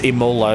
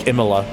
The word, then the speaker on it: Imola: oops I like how I just pronounced that as Imola it's it's when it's meant to be more like emila uh potato potato potato